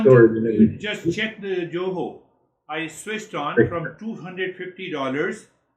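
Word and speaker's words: Goho: You just check the Joho.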